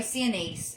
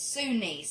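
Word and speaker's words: Sinise: of it I just Sue niece okay I'll never okay see I'm trying to say Cindy's it's sunnis thank you he's the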